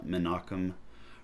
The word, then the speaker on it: Menachem: That's how you pronounce his name, Menachem Rosenburg.